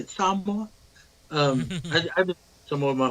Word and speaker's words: Samoa: mean, I didn't know that he left, or he grew up in I don't know how to say it, Samoa.